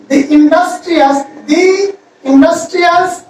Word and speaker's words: the: দি হচ্ছে তখনই উচ্চারণ হবে যদি দির পরে ভাওয়েল থাকে।